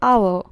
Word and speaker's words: hour: The first example, hour. So here this word start with H, but the pronunciation, it start with O, and O, this is vowel. H is silent in this word.